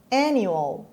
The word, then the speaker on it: annual: And the stress is on the first syllable.